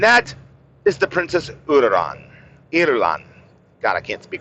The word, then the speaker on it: Irulan: Irulan. God, I can't speak right now. Irulan is how you say her name.